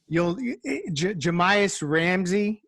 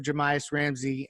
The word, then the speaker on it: Jahmi'us Ramsey: But then I read up about his approach to the game and his Jahmi'us Ramsey, I believe is how you pronounce his name, from Texas Tech.